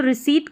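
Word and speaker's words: receipt: यह जो रिसीट करके पढ़ेंगे इसको पी यहां पर साइलेंट रहता है।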